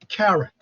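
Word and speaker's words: caret: that is um that's called you know um carrot that's the the symbol has a name carrot uh it's pronounced like you know uh carrot the uh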